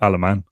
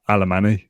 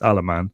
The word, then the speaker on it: Alemany: is that it's Mateo alaman not Alemany which is what I thought it was our sort clarification and the Y is silent so the first thing I've learned is that it's alaman we're going to talk